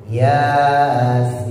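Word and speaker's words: يس: Yasin ya dua sin-nya en Yasin. Apa? 1 2 3 Yasin. Oh, masih banyak yang tebal. Yasin itu naik ke atas tuh. Jangan dimingkemin mulutnya. Taruh bawah. Merengesin. Mesem. Mesem. Yasin. Mesem. Tarik bibirnya. Yasin.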